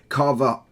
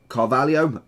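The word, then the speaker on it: Fábio Carvalho: that shadow into the cams we have Fabio Carver Carvalho nearly pronounced that name wrong I was thinking how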